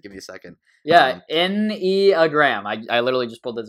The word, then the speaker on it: Enneagram: She told me how to pronounce it. Give me a second. Yeah, Enneagram. I literally just pulled this up as you said it. So there you go. Yeah, the Enneagram.